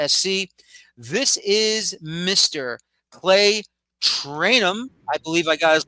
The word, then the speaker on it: Trainum: Clay Trainum. I believe I got his last name correct. You did. You did. That's a rarity, honestly. So, it's spelled phonetically, but everyone messes it up.